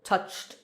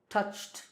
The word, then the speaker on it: touched: If the last sound in a word is voiceless, then the ed ending is pronounced t. For example, touched, touched. The sound ch is voiceless, so touched, t.